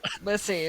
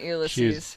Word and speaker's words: Lissie: Lissy, not Ulysses. She's not a Greek tragedy hero.